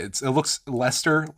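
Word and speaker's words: Leicester: use in your words it looks like lycaster but I think you don't pronounce any of those letters it just becomes like Lester or leister or something like that um that one was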